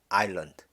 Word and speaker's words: island: 자, 이 단어는 일단 발음에 주의를 해야죠. 중간에 있는 S가 묵음입니다. island, 섬.